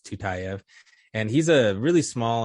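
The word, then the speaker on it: Tyutyayev: listener so it's t-y-u-t-y-a-y-e-v it doesn't sound like how it's spelled but it's tutayev and he's a really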